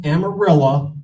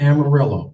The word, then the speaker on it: Amarillo: Mom I'm in Texas I told everybody it's pronounced amarilla not Amarillo okay so there I got 50 Mexican cousins